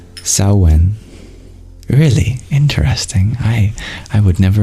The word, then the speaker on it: Samhain: Magdalene, of this word, Samhain, you share it's pronounced Samhain. Really interesting. I would never have guessed that. Thank you. Samhain.